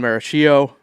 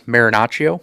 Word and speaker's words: Marinaccio: In response to Chad Green, Ron Maracchio, I definitely probably just butchered his name to no end. It's Marinaccio.